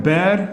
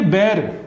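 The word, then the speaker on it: bear: है अपना, वो है बेयर द ब्रंट. ओके, ये बेयर, इसको बेयर करके प्रोनाउंस करो, ना कि बियर. बियर का स्पेलिंग होता है BEER, ठीक है. बेयर और बियर में डिफरेंस है.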